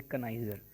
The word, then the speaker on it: connoisseur: टॉप हो, park बेहतरीन हो, उसे पार्क ही है, उसे बोलते कनाइजर। ठीक है।